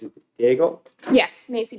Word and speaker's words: Daigle: When it comes to pronouncing names, is it Diego? Yes, Macy Daigle.